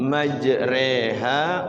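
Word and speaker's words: مَجْرٰىهَا: riwayat Hafiz Thariq satibia imalah itu hanya ada satu di surah 11 hud ayat 41 juz 12 di situ bacanya Bismillahi majreha wa mursaha inna Robbi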